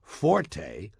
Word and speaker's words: forte: It's pronounced fort. The Italian word forte, F-O-R-T-E, used in music notation, is pronounced forte, and it instructs the musician to play loud.